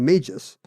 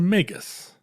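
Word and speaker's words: Magus: about the three Magi right so you think that one is a Magis but of course G before U is never a soft G it's a megus I guess it's it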